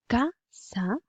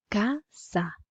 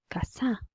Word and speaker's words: casa: Vous voyez bien qu'on dit casa parce que la syllabe ka est en gras. Casa. On ne dit pas casa, on dit casa.